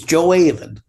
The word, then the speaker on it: Gjoa Haven: It's Geoa Haven. Spell that for me, please.